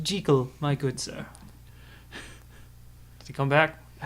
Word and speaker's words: Jekyll: It's pronounced Jekyll, my good sir.